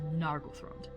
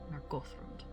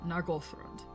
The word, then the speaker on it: Nargothrond: And you will hear me mispronounce that very frequently as Nargothrond, but it should be Nargothrond. Emphasis on Goth. So, Nargothrond.